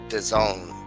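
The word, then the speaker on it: DAZN: call it the zone if it's spelt d-a-z-n how how do you pronounce that the zone it's not there's no o in it there's no e at the end of it how's that the zone it's not but anyways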